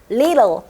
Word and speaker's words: little: 그래서 T로 시작할 때는 T급 발음이 정확하게 나지만 T가 가운데 있을 때는 정확하게 T급 발음이 나지 않고 약간 리을 발음으로 변해요. 그래서 letter, little 이게 아니라 letter, little 이렇게 하는 게 훨씬 더 좋을 것 같아요.